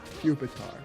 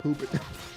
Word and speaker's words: Pupitar: It's It's pupa. It's pupitar. Not poopar.